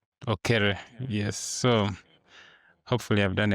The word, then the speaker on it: Okere: It sounds like mine, Okello, but Okere.